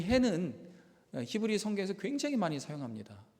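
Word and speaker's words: ה: 해. 따라해 볼까요? 해. 뭐 어렵지 않죠. 한 번 더 하겠습니다. 해. 네, 이게 5번째 글자예요. 흐 발음이 나기도 하고 묵은 발음이 나기도 하는데,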